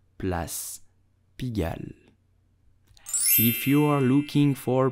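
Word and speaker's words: Place Pigalle: pronounce it bless begin do not pronounce it plus pigai but Plus pigal if you are looking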